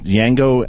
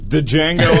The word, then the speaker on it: Django: I think it's Django Unchained is going to be, and I pronounced it wrong. No, that's right. Yeah, the D is silent.